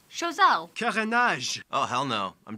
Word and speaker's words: Choiseul: In any case, today most town names and places are named after French words, but have like an anglicized, bastardized pronunciation. Reason being because instead of renaming everything after the French left, they just kind of repronounced everything.